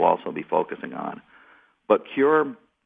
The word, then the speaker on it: CÜR: does and I want to get the proper pronunciation for it C media yes it's uh it's cure media thank you uh so C the U